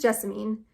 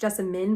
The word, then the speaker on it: Jessamine: This is Jessamine. Technically it's pronounced Jessamine, but that's dumb, so we're calling her Jessamine because that sounds prettier. She's a bitch.